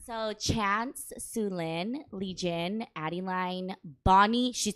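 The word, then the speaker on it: Xuelynn: it's spelled x-u-e-l-y-n-n so if you pronounce it in Hmong it's sulin but in to make it easy for everyone we just say sulin Okay Q okay q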